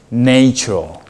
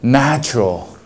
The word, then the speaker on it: natural: student I'm music student I thought it's natureal because nature right n a t pronounce nature right nature they so j e a is natural it is until I listen I focus on listening I know oh it sounds different you say natural I don't know why